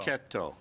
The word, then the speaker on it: Cecchetto: Cecchetto. Think of Geppetto and it rhymes. Geppetto, Cicchetto.